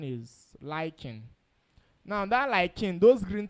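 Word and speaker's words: lichen: is called L chain I be lying proper pronunciation is lying now that lying those green things is made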